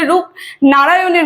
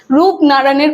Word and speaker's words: রূপনারানের: হচ্ছে রূপ ননারায়ণের কুলে অনেকজনই কিন্তু উচ্চারণে ভুল করে ঠিক আছে অনেকজন বলে রূপ নারায়ণের কুলে সেটা কিন্তু না রূপ ননারায়ণের কুলে আর রূপ ননারায়ণটা কি